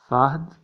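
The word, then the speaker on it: فهد: Phonetic pronunciation fahd.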